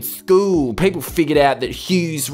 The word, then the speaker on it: Hughes: people figured out that hughes rhymes with poos they used to always